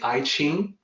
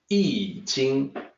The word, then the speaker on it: I Ching: out the YouTube presentation was say I Ching it's actually eating and no matter how